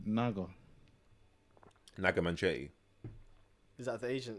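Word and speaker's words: Naga Munchetty: Yeah, Naga Naga. Manchetti.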